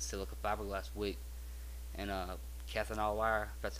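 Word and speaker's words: Kanthal: hell with this silica fiberglass week and uh cathol wire that's how you pronounce it um doing it job well I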